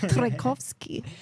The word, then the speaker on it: Trajkovski: of your surname, and it's a little bit like the composer Tchaikovsky, but it's Trajkovski.